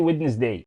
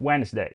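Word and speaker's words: Wednesday: عارف انك هتقول لي ويدنس داي ودنس دي بتتنطق وينس داي وينس داي وعندك مثلا كلمات زي دي اير فير جير فتتوقع دي هتنطق ايه؟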